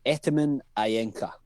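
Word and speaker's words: Etemen Ænka: do you pronounce it in edinburgh we say ataman ayenka so that's the full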